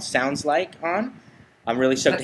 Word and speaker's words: Soundsl!ke: okay second question is is it pronounced differently with the exclamation point yes yes you really want the inflection on that exclamation point you really want to yell it sounds like that okay so that's we're